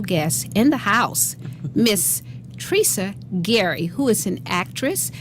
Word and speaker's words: Tresia: Pronounced differently, Yes. Tresia.